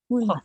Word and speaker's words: 문화: Itu munwa apa muna ya bacanya? 문화. 문화. Ya, harus 문화.